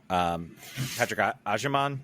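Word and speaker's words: Agyemang: First half, I thought he really kept Patrick Ajerman. I think I should know that name. I'm just making sure I pronounce it correctly. You got it right.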